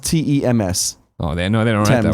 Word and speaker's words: Thames: Phonetically, it's pronounced TEMS.